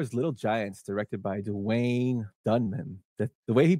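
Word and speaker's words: Duwayne: puffed Wim 1994 is Little Giants directed by Dwayne dunman that the way he pronounces he spells his name as great is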